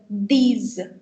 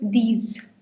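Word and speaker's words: dix: And so you've got 10, which is called these. Now don't get confused here, anyone, please, because the fact is that I've told you that last ka consonant silent rehta hai, but in this case it's an exception.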